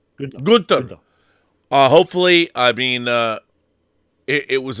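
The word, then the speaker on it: Günter: How do you pronounce Gunter in German? Gunter.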